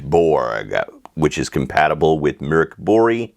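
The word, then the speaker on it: Mörk Borg: are reviewing pirate Borg which is compatible with mirk bori it's actually pronounced mirk bori so this would actually be pirate Buri if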